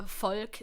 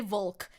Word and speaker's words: Volk: can you stop pronouncing Volk the way that you do? I've said it in chat multiple times. The V is pronounced like an F. It's not pronounced like a W. Don't say Volk.